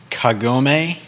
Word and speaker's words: Kagome: look it up and i looked up the pronunciation as well so uh it's kagome yeah right we're calling her and it is